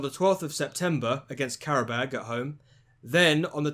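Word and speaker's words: Qarabağ: What is it pronounced again? Qarabag.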